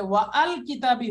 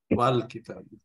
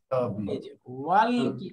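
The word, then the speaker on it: وَالْكِتَابِ: এটা এখন সাইলেন্ট হয়ে, এটা এখন সাইলেন্ট হয়ে যাবে আর উচ্চারণ হবে না। উচ্চারণ না হইলে কি পড়তে হবে? ওয়াল কিতাবি, ওয়াল কিতাবি, ওয়াল কিতাবি।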